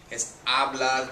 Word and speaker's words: hablar: It's hablar, the H is silent.